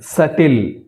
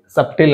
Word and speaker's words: subtle: silent so ఇందులో sixth one లో be silent సటిల్ సటిల్ అనాలి సప్టిల్ అనకూడదు సటిల్ సటిల్ సటిల్ right ప్లమర్ నాట్ ద